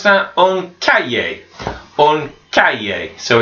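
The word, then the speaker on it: un cahier: we've got an exercise book and we will pronounce that on cat yay on Calle so it's that yet sound that H and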